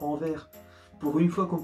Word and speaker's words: Anvers: ya aussi la ville d'anvers c'est anvers à anvers pour une fois qu'on prononce dès le est sans fin de vos